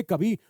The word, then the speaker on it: coup: अब इसमें यू अब इसमें पी साइलेंट होता है तो कू ये जो होता है अब इसको